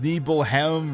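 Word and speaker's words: Nibelheim: hoken New Jersey because apparently it's pronounced neble hem or some weird pronunciation I can't be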